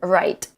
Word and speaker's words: right: We pronounce the T, it's a stop T. Am I right? It's not am I right? Right? I have to put my tongue up and stop the air.